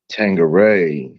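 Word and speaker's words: Tanqueray: Tangeray is how you say it.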